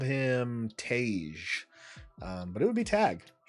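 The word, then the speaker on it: Tagge: in the movies but it is tag tag I think I heard someone call him tagy and then someone else called him Tage um but it would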